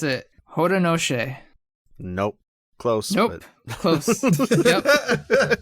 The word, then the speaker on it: Haudenosaunee: Yes, because I found out how to pronounce it. Haudenosaunee.